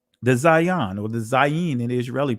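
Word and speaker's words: זין: This is the Zion, and the Israeli pronunciation is Zayin, but the numerical value is 7, right?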